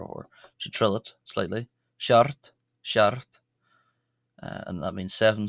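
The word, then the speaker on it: seacht: Shart uh and that means seven.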